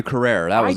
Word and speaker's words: Carrere: Tia Carrere. That's how you pronounce it.